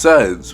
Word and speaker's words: Suns: Now, their name is pronounced Suns, like S-U-N-S in the game, but it's actually pronounced Sons with S-O-N-S. Like sons and daughters.